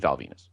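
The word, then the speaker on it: Val Venis: She beat Val Venus. And now this whole what? Rhymes with penis.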